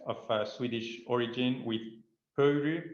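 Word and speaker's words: Pöyry: uh swedish origin with puru pronounced in the finnish way with at least we've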